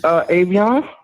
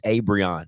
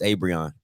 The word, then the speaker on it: Abrion: I don't need to waste more time with you, Avion. It's Abrion. I don't need to waste more time with you. It's Abrion. That's how you pronounce it.